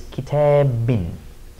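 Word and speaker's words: كتابٍ: So we would pronounce this kitabin.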